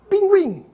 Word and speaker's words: pinguim: aguentar bilíngue en chago da mesma forma vamos ver a diferença da pronúncia do Gu mudo para o Gui pronunciado Gu guitarra distinguir seguinte e Gui de linguiça pinguim arguir depois da reforma ortográfica